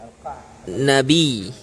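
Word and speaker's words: القعنبي: nabi bifathil qaf wa sukunil ain wa fathan nun wa fathin nun. Itu berarti bacanya dengan alqa nabi fathil qaf. Berarti qafnya difathahkan, mensukunkan huruf ain dan menfathahkan huruf nun.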